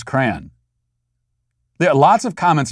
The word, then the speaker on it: Koran: only language that's violence is matt trying to pronounce kran there are lots of comments about my pronunciation of koran once again i am discriminated against for my